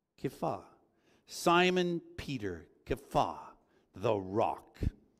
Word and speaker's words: Kepha: So Peter's new name was actually Kepha. Kepha.